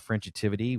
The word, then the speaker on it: Frenchitivity: That was kind of the plan, to establish this family brand called Frenchitivity, which is it kind of rhymes with positivity, creativity, tranquility, and there was a reason there.